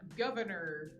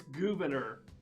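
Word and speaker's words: Gouverneur: think i think so it's not governor morris you say you're saying it's oh i'm saying it's gouverner yeah i notice it's spelled differently yeah it's it's that new england thing oh okay yeah i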